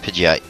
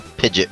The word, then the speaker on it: Pidgeot: fastest bird and and or Pidgeot which I could pronounce it Pidgeot if you're a pidet person good for you I pronounce it Pidgeot so cuz it sounds more impressive but that brave will